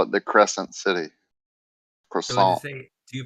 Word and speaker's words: croissant: Do you say croissant or croissant? Croissant. Croissant. Croissant. There's no T silent, right? The T is silent. So you don't say croissant with a T. You say croissant.